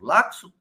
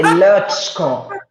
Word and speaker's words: Lacsko: Laxo? Na verdade, é impronunciável. É Lutschko. É um nome impronunciável. Se pronuncia Lutschko. Lá me corrigiram outro dia. Não é assim que fala Laxo, é Latco, alguma coisa.